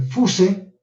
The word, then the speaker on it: fuse: Fuse, por si acaso se escribe fuse, se lee fuse, tipo Z, fuse, ¿ya?